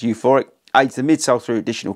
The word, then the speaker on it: Euphoric: You've got the Euphoric, which I keep calling U4IC, but it's actually pronounced Euphoric, aids the midsole through additional cushioning, responsiveness.